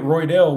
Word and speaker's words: Roydell: that's a Full House don't forget roydell where the J is silent yeah this is the